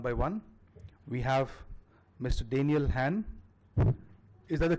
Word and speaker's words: Hahn: Hahn. Is that the correct pronunciation I've got?